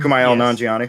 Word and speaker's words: Kumail Nanjiani: Kumail Nanjiani.